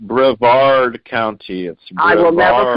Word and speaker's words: Brevard County: bless you both you honey and remember it's pronounced Brevard County again hey learn it from me or the